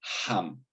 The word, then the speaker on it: HAM: Por cierto, este mantra es HAM, H-A-M, sí, H como de bosón de Higgs, una H que se pronuncia como una J, igual que en el caso del bosón de Higgs.